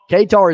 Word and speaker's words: Qatar: us don hates it ktar is pronounced like guitar but with a cue kitar katar katar i thought it